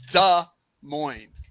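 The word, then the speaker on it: Des Moines: s space m-o-i-n-e-s pronounced you pronounce both parts wrong it's da moines so that's like on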